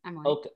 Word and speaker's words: Okotoks: - How is it pronounced? - Okotoks.